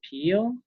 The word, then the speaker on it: Peel: How do you say your last name? Is it Mr. Peel? Correct. Mr. Peel.